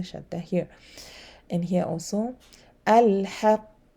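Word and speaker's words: الحق: I have to stay a bit before releasing the letter. Okay, if there was no shadda, I will pronounce this way. Al-haqq. Okay, all al-hajj. Okay, you see, no qalqal, no, I mean shadda, I pronounce quickly. But because there's a shadda, al-hajj or al-haqq.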